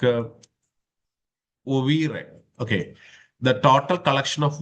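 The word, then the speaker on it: oeuvre: This in turn led us to an overview of Khalidas creative of you know that's a it's a French word actually. So the the pronunciation will somewhat come like ov okay the total collection of works created by a particular person.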